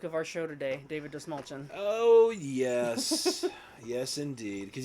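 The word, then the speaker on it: Dastmalchian: David Dastmalchain, right?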